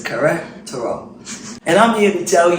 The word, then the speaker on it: Querétaro: And the nice little young lady told me how to pronounce it because I kept messing up the word. So it's Querétaro.